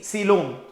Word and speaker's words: coelom: सी ये बोलने के लिए हम सीलोम बोलते हैं, बट it starts with C एंड COE is pronounced as सी. इट इज नॉट SEEC. COEC, सीलोम.